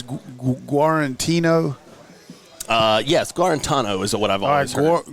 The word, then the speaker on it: Guarantano: How do you pronounce that? I think it's I've always heard Jared Guarantano. All right, it's Guarantano.